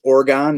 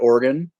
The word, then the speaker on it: Oregon: word it's PR as the A4 mentioned it's pronounced Oregon not organ uh what ipas are on draft uh Cheryl's